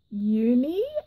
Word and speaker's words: Juni: but her name is uni I think it's spelt Ju and I but I think she said that J is silent so it's either you